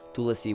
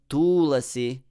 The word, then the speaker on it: Tulasī: e at the end so it's not too lassi it's tulasi tulasi Dev yay stress the second syllable more because it's long and the long is heavy to be stressed yeah so here everything